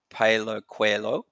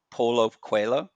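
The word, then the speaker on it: Paulo Coelho: of everything and that's Palo cuello Paulo cuella yes that's a better pronunciation yes um and yeah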